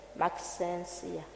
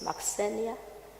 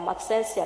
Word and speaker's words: Maxensia: My name is Maxensia. Doctor, I heard you pronouncing it Maxenia. I am Maxensia.